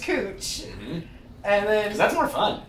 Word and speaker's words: Couch: have a street that's spelled couch c-o-u-c-h but it's pronounced cooch and then that's more